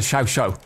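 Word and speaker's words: Chauchat: I haven't unlocked I've been told it's pronounced the Shosha.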